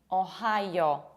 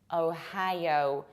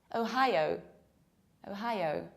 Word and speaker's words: Ohio: And people usually pronounce it like Ohio with very square O. Whereas in fact, we pronounce it like Ohio. You have O, high, like high. And again, O, high, O. Ohio, Ohio.